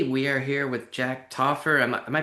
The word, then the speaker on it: Taufer: So, uh, hello everybody and today we are here with Jack Tooffer. Am I pronouncing that right?